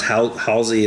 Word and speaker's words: Halsey: It's Halsey.